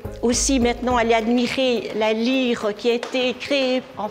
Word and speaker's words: Lierre: Lire s'écrit L I E R. hein. Mais bien sûr, on prononce lire et lui aussi il est originaire de la ville de Lire.